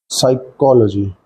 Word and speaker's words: psychology: so first will be psychology while pronunciation stress need be put on cho part if you write this